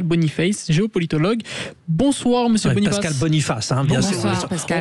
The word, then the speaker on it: Pascal Boniface: Pascal Boniface, hein, bien sûr. On va le prononcer à la française hein, puisque Pascal est français bien sûr.